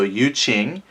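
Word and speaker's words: Yu Jing: One of the pronunciation guides said that the J is a ch sound, so Yu Qing.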